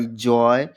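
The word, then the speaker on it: joy: जैसे जी ओ वाई जॉय बी ओ वाई बॉय एल ओ वाई L loyal T ओ वाई टॉय।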